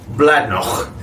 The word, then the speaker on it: Bladnoch: So today we have, and I'm going to completely and wildly mispronounce this, no doubt, Bladnoch. You got to really get it in the back of your throat, apparently, according to all the Scottish mates that I have.